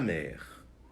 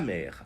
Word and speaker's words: mère: A mãe, la mère. A mãe, la mère. Então, le père, o pai, la mère, a mãe. Engraçado porque em francês, mar e mãe se pronunciam da mesma maneira.